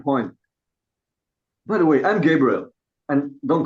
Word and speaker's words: Gabriel: By the way, I'm Gabriel and don't call me Gabe. It grates on my on on my feelings. I I love my three syllable name, man.